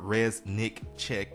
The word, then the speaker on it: Reznicek: so I've actually got on my note card, Reznicek. Of course, I know how it is to mispronounce someone's name, so I like to at